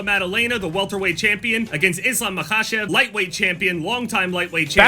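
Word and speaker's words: Islam Makhachev: Anyway, for the card that is actually about to happen, main event, Jack Dela Matena, the welterweight champion against Islam Makashev, lightweight champion, longtime lightweight champion.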